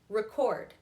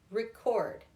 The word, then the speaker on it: record: So it is on the second syllable, not the first.